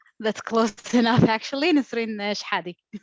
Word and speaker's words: Shehadi: Nisreen Shehadi. Shehadi, thank you.